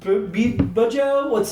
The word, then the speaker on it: Bjo: Joe Bujo, it's spelled BJO.